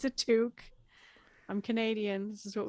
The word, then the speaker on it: toque: uh stock it and Arlene how did you pronounce this word for the thing you put on your head it's a toque I'm Canadian this is what we call no